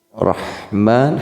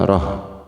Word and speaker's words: Rahman: Rahman, haknya kecil, hak tipiskan, rah bukan roh, atau samar, kecil tidak, besar juga tidak.